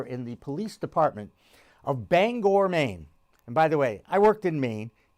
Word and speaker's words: Bangor: And sure enough, there's a character in the police department of Bangor, Maine. And by the way, I worked in Maine. You pronounced the name Bangor, not Banger, okay? Bangor. Very simple.